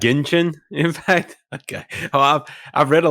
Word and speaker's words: Genshin Impact: Genshin Impact or Jensen Impact? Genshin Impact. Genshin Impact.